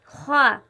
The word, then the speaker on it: خا: خا کی مثال دیکھیے۔ خا وہ پہلا حرف ہے ان 7 حرفوں میں سے جو ہمیشہ پر پڑھا جاتا ہے، یعنی موٹی آواز میں پڑھا جاتا ہے۔ تو سب سے پہلے اس کا تلفظ دیکھیے کس طرح ادا ہوتا ہے۔ خا، خا، اس حرف کا تلفظ حلق سے نکلتا ہے۔ خا، خا ادا ہوتا ہے حلق سے، اور اس میں موٹی آواز ہوتی ہے۔ جب ہم خا کو